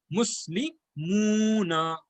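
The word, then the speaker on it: مُسْلِمُونَ: That's why it is pronounced as Muslimuna. Muslimuna.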